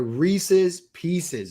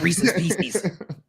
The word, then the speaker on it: Reese's Pieces: They are Reese's Pieces. It rhymes. They're supposed to rhyme. Run up to like little kids and be like, no, say it right. It's not Reese's Pieces.